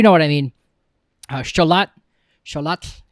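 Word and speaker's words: Xolotl: Sholat is how you say that in Aztec mythology.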